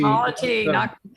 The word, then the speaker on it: myositis: Myositis. Hey, Myositis rhymes with quality.